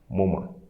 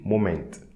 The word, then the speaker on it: moment: And the T for moment. So don't say moment, like in English. Moment.